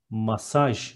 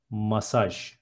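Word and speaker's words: masaj: Next one, massage is massage in Turkish. Instead of G, there is J and it is massage.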